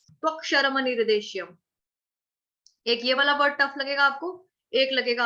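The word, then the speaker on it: अक्षरम्: यह 'अक्षरम', यदि आपको लगता है कि आपके मुंह से निकलने वाला 'मा' आधा उच्चारित हो रहा है, तो 'मा' को पेन से दो बार रेखांकित करें ताकि आपको पता चले कि 'मा' का उच्चारण पूरी तरह से होना चाहिए; यह आपके लिए एक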